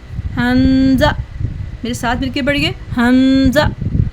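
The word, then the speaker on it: همزة: तो dear kids, Hamza हलक के निचले हिस्से से थ्रोट के रूट से अदा होगा। जहाँ पे गले का एंड होता है उसको थ्रोट का रूट कहा जाता है, ठीक है। Hamza pronounced from the lowest part of the throat, ठीक है। इसको हमने गले के रूट से अदा करना है, गले की जड़ से अदा करना है।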